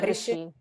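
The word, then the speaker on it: ऋषि: I was wondering if rishi might be a long R, but I don't have my no, it's short. It's short. In a rishi. Yeah, it's a short ra.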